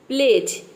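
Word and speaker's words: pledge: एन का sound आता है तो ठीक है प्लेज इसमें देखिए डी लेटर साइलेंट है किसी भी वर्ड में अगर डी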